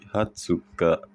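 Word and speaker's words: 二十日: Nah, ini yang spesial nih 20 jadi Hatsuka.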